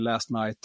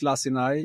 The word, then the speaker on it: Lacinai: It's Lacinai. You will see the spelling there. Some people call me last night or lasagna, but it's Lacinai.